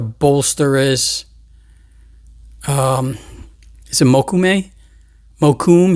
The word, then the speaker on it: mokume: it mokume mo kum he likes to pronounce jeff because he's from new york he pronounces it mokume which is probably the correct way i'm not sure i say mokume because it just sounds so much more expensive that way but this is one